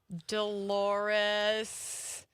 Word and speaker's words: Dolores: Dolores. Dolores rhymes with a female body part according to Seinfeld.